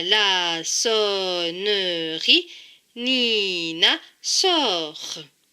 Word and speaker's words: Nina: Cela donne comme mot Nina.